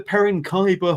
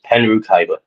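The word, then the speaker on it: Penrhiwceiber: butcher this is the perin kaiber hall uh where is his spirit spiritual home of no mercy wrestling did I pronounce that correctly Bon very very close it's pen r kyber pen R kyber thank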